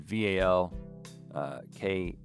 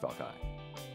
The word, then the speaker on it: Valkai: Spell it all? Forrest with two R's and then V-A-L-K-A-I.